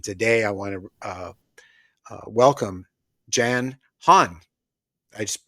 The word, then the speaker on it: Jan Hann: And today I want to welcome Jan Hann. I just pronounced your name correctly, Jan?